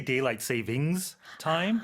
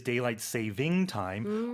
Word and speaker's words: daylight saving time: expression itself a lot of native speakers incorrectly pronounce it they say daylight savings time but uh technically it is daylight saving time or you can just casually refer to it